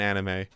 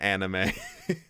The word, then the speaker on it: anime: I grew up, saying manga and anime, and then I found out that it's technically pronounced manga and anime.